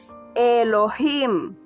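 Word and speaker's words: אלהים: de la misma Elohim acuérdate bien no el es Elohim Elohim Y si te cuesta recordar Recuerda que aquellos que les resulta un poco difícil la pronunciación de la G la hacen muda Elohim muy bien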